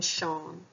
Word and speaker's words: Sean: Sean lahen no quail is the s in Sean broad or Slender well it's followed by an e and the broad vowels the Slender vowels Quail or E and I so the S and Sean is Slender or quail so the pronunciation of